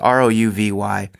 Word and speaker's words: Rouvy: called I think it's a Rho V they pronounced it was ro uvy and it what it does is that mimics